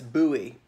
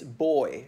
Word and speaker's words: buoy: of f a ship in the United States that's buoy but in British is boy just like boy and girl although even though we